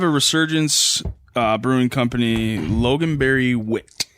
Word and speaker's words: Wit: I have a Resurgence Brewing Company Loganberry Wit. Is it pronounced wit or vit? I think it's Wit.